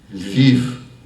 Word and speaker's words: Lviv: Lviv, he pointed through the window, pronouncing the L softly.